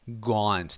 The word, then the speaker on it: gaunt: looked also very thin gaunt that's how we pronounce it the long a sound from The Waters Edge